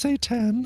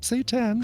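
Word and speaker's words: seitan: audio clip yeah yeah well it's um pronounced Satan um yeah so really like um Satan is how it's pronounced okay yeah you really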